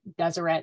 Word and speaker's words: Deseret: this is from the Deseret News I know you think I'm saying that wrong but my husband's from Utah and I know that's how you say it yeah say it like the French um I think that